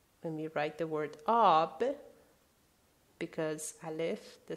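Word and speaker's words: آب: For example, when we write the word ab, because Aleph, the sound A, is at the beginning, we put that hat on top of Aleph, ab.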